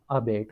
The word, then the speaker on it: abate: इसको हम प्रोनाउंस करेंगे अबेट के साथ।